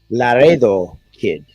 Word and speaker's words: Laredo Kid: Also uh in that match you're mentioning it's pronounced Laredo Kid or Laredo if you want to.